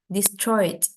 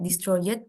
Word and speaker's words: destroyed: Destroyed. ID-nya itu langsung di belakang, nggak destroyed, tapi destroyed.